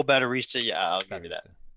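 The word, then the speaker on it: Baterista: Terista. Correct. It's I think I pronounced it wrong. Oh, Batterista.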